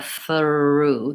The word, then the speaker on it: through: the AR and so I have to go th forward are back and then blue mouth position forward there's kind of a through there's kind of an uh-oh schwa in there as I'm gliding between sounds and so you're hearing a slight difference between the word through and maybe some other thr word but no native speakers